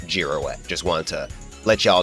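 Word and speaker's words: Girouette: I think his name is actually pronounced Giroette because that's sort that's similar to how it's pronounced in French.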